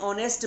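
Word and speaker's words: honest: एन ऑनेस्ट मैन, अब देखिए इसके आगे एच जो है कॉन्सोनेंट है, लेकिन आप इसको क्या पढ़ते हैं, ऑनेस्ट, ठीक है। इसमें जो एच होता है साइलेंट होता है।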